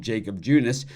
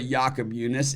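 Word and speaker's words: Jakob Junis: uh pronounce his name thinks a lot of people call him Jacob junis but it's really yakob yunice and the 2.61 erra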